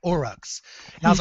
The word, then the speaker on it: Uruk: Okay, the new orcs, the Uruks, with your accent and everything, how do you say it? Uruk. So it sounds very similar to orc. Yeah, really close to orc.